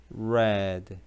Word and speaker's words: read: I 그거는 이런 발음이 나오면 안 되고 과해줘야지 red 과어 과해줘 red you know you knew I